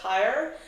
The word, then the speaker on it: Tauer: So next up we have this new launch from this brand called Tyre. It's spelled Tauer, and this fragrance will